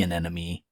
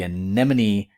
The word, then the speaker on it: anemone: chase off fish that actually can eat the anenome I think I said it wrong and get stung so in a way the anemone benefits from the clownfish the clownfish also benefits